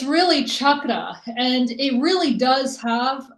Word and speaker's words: chakra: sure that's where it came from um we pronounced chalk and when somebody says chakra like like chalk and like all that stuff so but it's really chakra and it really does have a meaning to